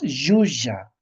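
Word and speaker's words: llulla: Yuya, pero en los libros encontramos a Yulia Maquella, ¿no? Y así he aprendido los niños a leer, ¿no? No solo los niños, sino cualquier lector. Pero nosotros en el quecho norteño tenemos que pronunciar yuya. El sonido elli tiene que ser ah yuya.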